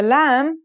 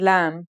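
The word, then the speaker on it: لام: isolated and final forms the lamb sounds like the English L very easy to pronounce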